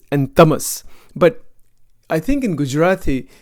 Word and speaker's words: Tamas: Sattva gun, Rajogun, Tamogun. Or it's actually pronounced Sattva, Rajas, and Tamas.